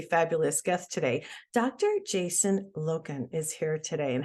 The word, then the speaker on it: Loken: is here today and hopefully I'm pronouncing your name right is that proper you got it yeah I used to get locking or Logan so you got it first try welcome to high road